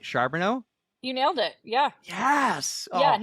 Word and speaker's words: Charboneau: the fastest crustation I have a hard time pronouncing words but I think I got your last name right sharbono you nailed it yeah yeah yes yeah nailed